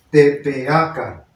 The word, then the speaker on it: Tepeaca: Pues en lugar de decir Tepeyacac, aquí nosotros le decimos Tepeaca. Nos tragamos estas dos.